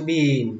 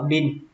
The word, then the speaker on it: bean: Chữ này, chữ bean, các bạn nhớ đọc, nhớ kéo chữ y ra. Bởi vì đây là âm y dài, các bạn nhớ kéo nó ra. Bean, đừng đọc là bin. Các bạn đọc bin thì nó sẽ trở thành từ khác.